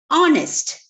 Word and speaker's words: honest: See, our, honest. Teacher, H is a consonant. Enna pinne a use cheyidude? No, H is silent there.